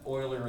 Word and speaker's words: Euler: Euler is the, I know you think it's spelled with an O, but it's pronounced, the guy's Swiss mathematician Euler.